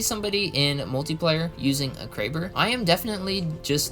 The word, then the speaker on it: Kraber: Alright, moving on to the Kraber, or the Crabber for people who don't know how to pronounce the gun. That is one of my pet peeves. People are like, oh, I'm gonna use the Crabber. I'm like, bro, it's not the Crabber, it's the Kraber.